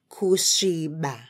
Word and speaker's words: kusviba: Now, let's say Kusviba.